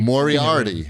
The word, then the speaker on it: Moriarty: heard his name pronounced i've only moriarty moriarty like like the like like a sherlock holmes guy like the villain from sherlock holmes yeah like the hound